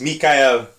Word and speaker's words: Michael: It's not Michaela It's- it's Fassbender. my- Enlighten us. It's Mikael Fassbender. He is Okay.